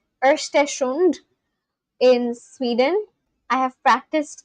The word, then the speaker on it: Östersund: Östersund is located in... You actually got what I meant. Oh my god, so my pronunciation has become better.